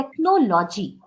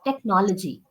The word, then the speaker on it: technology: you said technology. The pronunciation is not technology. You don't have to stress on no. It's technology. Technology.